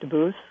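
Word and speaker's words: Debus: say it in German it's like to booth but it's d-e-b-u-s and so that was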